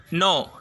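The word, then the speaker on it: know: இனிஷியலில் கே வந்திருக்கு, நம்ம கே என்ன செய்யலை? ப்ரொனவுன்ஸ் பண்ணலை, உச்சரிக்கலை. அப்போ நம்ம என்ன சொல்கிறோம்? நோ. ஐ நோ the answer for this question நீங்கள் சொல்கிறீங்கன்னா இந்த இடத்துல நோ. சரிங்களா? அப்போ கே சைலண்டில் இருக்குது.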